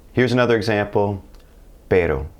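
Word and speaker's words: pero: G here's another example per which means butt in Spanish like B butt per now if I stretched it out it become per and that's a completely different word it means dog in fact while we're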